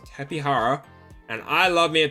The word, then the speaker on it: Tapejara: The Jara is Hara. The thing says Tapihara, and I love me a Tapihara.